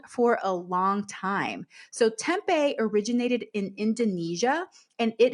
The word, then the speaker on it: tempeh: So that is spelled Tempeh, but it's pronounced tempeh.